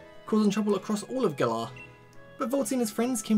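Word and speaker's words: Galar: it's really annoying like I know the region's pronounced gala but a lot of time that keeps saying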